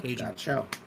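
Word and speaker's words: Godchaux: But in Greasy Godcho? Godcho. It's Cajun.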